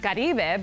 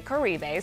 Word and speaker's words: Caribe: It's actually pronounced Caribe, but most people just say Caribe since it's a lot easier to pronounce.